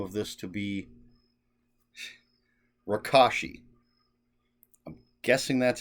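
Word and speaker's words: Rakoshi: edition that's called rakashi the reason i think that's how it's pronounced is because jack mishears somebody that says it and thinks they said my gosh so that's why i'm going with the kosh because it sounds like gosh so rakashi um yeah so it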